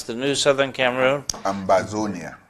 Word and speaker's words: Ambazonia: How do we pronounce the new Southern Cameroon? Ambazonia. Ambazonia.